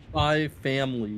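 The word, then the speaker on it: Spy × Family: And for me, you don't have to pronounce the X. Spy X Triple X Family. No, it's Spy Family.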